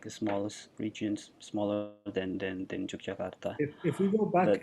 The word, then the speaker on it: Yogyakarta: people here usually pronounce it as Yogyakarta. You can say it as well, Yogyakarta.